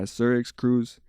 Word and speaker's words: SirxCruzz: With the X is silent, obviously with my name, but yeah, SirxCruzz.